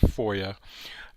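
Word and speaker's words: FOIA: So the the the Federal Freedom of Information Act pronounced FOYA um essentially came about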